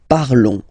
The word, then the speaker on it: parlons: Remember, final s is not pronounced, okay? And then this on together, they will give you the sound on, okay? Nous parlons, all right?